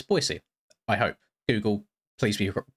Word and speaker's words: Boise: I wanted to make sure that it wasn't Boise or Boise, but it's Boise.